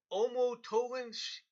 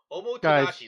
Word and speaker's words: Omotenashi: Japan's Aerospace Exploration Agency said that the Omotoginshi the Sushi 3. The Sushi 3. No, let's just call it the Sushi. Let's just call it the Sushi 3. Omotenashi. That's how you say it.